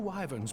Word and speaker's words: wyvern: And 'tis said several wyverns broke through into the city proper. Excuse me, it's pronounced wyvern.